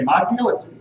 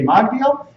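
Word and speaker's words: מגדיל: But now we know that when we say Magdil, we say if it's a weekday, we say Magdil, and when it's Shabbat or a festival, we say Migdol, and when we're chanting the Haftorah formally, we say Migdol.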